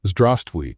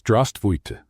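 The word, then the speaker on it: здравствуйте: "No, it's not zdravstvуй, it's zdravstvуйте, with an E at the end."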